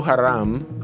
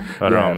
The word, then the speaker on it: Haram: So let's go ahead and get into this Islamic terrorism group in Nigeria, Boko Harem, however you want to pronounce it. Yeah. Haram is how I've heard it.